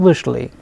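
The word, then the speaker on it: вышли: So, here since the stress is on ui, we pronounce it as vishal, vishla and vishli.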